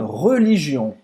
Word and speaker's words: religion: Une religion. Então, une religion. Eu vou fazer a boca do O e vou falar E, tá?